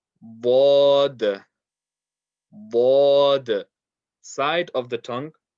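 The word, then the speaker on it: ض: Bod, bod, bod. Side of the tongue touching the side of the top back teeth, the top molars.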